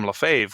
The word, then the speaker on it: Lefebvre: my middle name because most people cannot pronounce the name LaFave which is the last